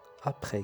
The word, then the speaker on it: après: قبل ضدها بعد avant après. كذلك عندي s على fin لكن لا يتم نطقها.